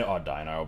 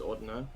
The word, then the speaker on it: Audino: Does it pronounce Ordino weirdly? I don't think so. I always say Audino, but I know that that's not correct. I'm pretty sure it's Ordino.